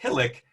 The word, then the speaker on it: HILIC: under the abbreviation hilic so if you see hilic you can always remind yourself that it rhymes with hydrophilic I hope that helps